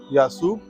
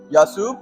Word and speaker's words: Yasoob: Yasub? Yasub? Yeah. And how do we spell that?